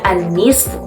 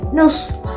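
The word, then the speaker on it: النصف: setengah itu bahasa Arabnya annisfu annisf itu artinya setengah ya kadang orang Arab bilangnya enteng aja Nus dari kata Nis Tapi diucapkan Nus Nus jadi seolah-olah hanya Nun dan SH aja Nah kita masuk ke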